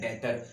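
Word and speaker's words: debtor: हो वो होता है डेटर, बी खामोश होता है साइलेंट, तो हम क्या पढ़ते हैं डेटर।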